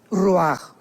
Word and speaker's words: ruach: es la palabra ruach, que se pronuncia ruach.